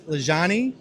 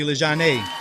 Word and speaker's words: Lajaunie: So it's Lajaunie, or in Cajun French, where I'm from, it would be Lajaunie.